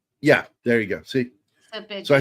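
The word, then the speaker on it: Šerbedžija: Oh, I think the J's silent. That would be Serbedzija. Yeah, there you go. See? Serbedzija.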